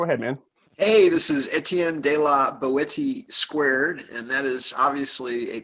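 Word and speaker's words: Etienne de la Boétie: So Let's introduce our guest, or rather, I'm going to have him introduce himself so we pronounce it correctly. Just go ahead, man. Hey, this is Etienne de la Boetie2, and that is obviously a pen name, or maybe not so obviously.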